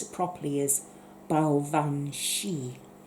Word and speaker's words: Baobhan Sith: pronounce it properly is Baobhan Sith. So it's very much like the Banshee.